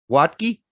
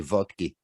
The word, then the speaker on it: Berhalter: vodka is that vodki how does he pronounce it watki i'm going with watki but i don't pronounce names oh he's he's not german he's american so yeah he probably goes with watki but in german it'd be valky which would be much cooler